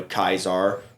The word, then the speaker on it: Caesar: But in Latin, they used hard C's and soft B's. I don't know what the soft B means or sounds like, but I know Kaizar was the hard C.